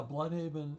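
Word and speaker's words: Blüdhaven: U, I guess the proper pronunciation would be, you know, blavin. Uh, but everything gets anglicized.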